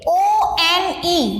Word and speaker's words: one: तो उसकी वजह से, बिकॉज इट साउंड्स व, when we read it O-N-E, we read it O, but when we read the word, we read it as one.